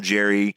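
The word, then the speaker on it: Jeryn: I thought it was Jaren, maybe. It's spelled like Jaren, but they call him Jerry.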